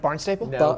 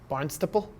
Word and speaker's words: Barnstable: got organized we've got you say that wrong what was it barn staple barnstable barnstable no that's how i would say that that's how you say it what is barnstable